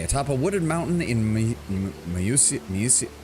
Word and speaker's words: Mysia: Okay, atop a wooded mountain in Mysia. They keep pronouncing this weird in every dialogue. It's like Musia? It's not just Mysia. Like, they don't pronounce it like that.